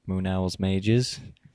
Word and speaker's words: Moon Owl's Mages: Well, I play in Moon Owl's Mages.